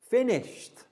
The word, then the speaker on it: finished: going to look at is e d pronounced as t let's take a look walked notice even though it's ed walked i walked home from school with my friend today yes so the ed letters producing the final t sound or finished i finished